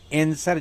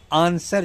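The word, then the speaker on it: answer: पहली बात, आंसर, एंसर, दो तरह के जो उच्चारण है, एक अमेरिकन, एंसर जो है अमेरिकन है, आंसर जो है वह ब्रिटिश प्रोनाउंसिएशन है, ब्रिटिश उच्चारण है।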